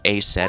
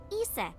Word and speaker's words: Isis: What's A set Horace's exactly? mom is named Isis. But in ancient Egyptian, it's pronounced closer to Ise or Aset.